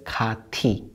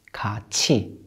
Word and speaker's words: 같이: at the word 같이 When the final consonant is 디귿 or 티읕 and it's followed by a vowel E they change to 지읒 or 치읒 So this isn't pronounced as 같이 It's 같이 같이 같이 의지를 가지고 의지